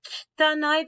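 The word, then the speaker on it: 汚い: That E sound, the kitanai, that's what we call a voiceless vowel.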